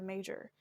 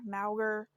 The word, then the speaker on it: Mauger: her name was pronounced major like her last name was pronounced major because when I saw her name was like is it pronounced like MRE maer um I I wasn't